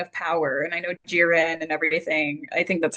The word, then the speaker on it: Jiren: Um so I remember the Tournament of Power and I know Jiren and everything.